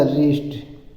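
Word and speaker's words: wrist: ठीक है आगे देखिए डब्लू आर आई एस टी लिखा है तो डब्लू साइलेंट हो जाएगा इसको लिखा जाएगा रिस्ट ठीक है आर आई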